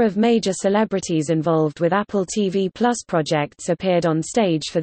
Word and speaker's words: Apple TV+: Apple TV Plus, pronounced Apple TV Plus, is an upcoming American over-the-top ad-free subscription video on-demand web television service announced by Apple Inc.